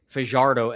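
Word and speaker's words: Yhoiker Fajardo: It's uh Y H O K E R Fardo.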